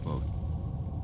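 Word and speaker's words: Kvothe: a smile broen mine my name is quot pronounced nearly the same as quote names are important as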